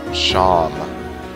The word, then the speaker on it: Seam: The name's Seam, pronounced Shom.